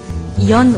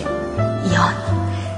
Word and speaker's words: 연: 여러분, Y-E-O-N 연 왔어요. 발음을 잘 하셔야 됩니다. 두음법칙 쓴다고 니은 붙이면 큰일 나요. 그냥 부드럽게 연.